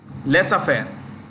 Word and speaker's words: laissez-faire: Free market economy and laissez-faire. Laissez-faire. I'll spell it.